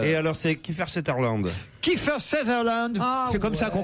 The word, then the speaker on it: Kiefer Sutherland: Kiefer Sutherland, c'est comme ça qu'on prononce.